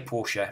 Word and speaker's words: Porsche: We're supposed to say Porsche, we're supposed to say Nike, but we don't. We say Porsche, we say Nike. It's almost everybody in England says Porsche. Almost everyone in England says Nike. I mean, I've been into a Nike shop and they say Nike in the shop, but we know it's Nike, we know it's Porsche.